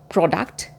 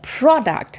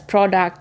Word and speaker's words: product: And this person said, "It's not product, it's product. Learn to speak English before calling us." And he slammed the phone on my face. But now I know that it is pronounced both as product and product depending on where you are in the world.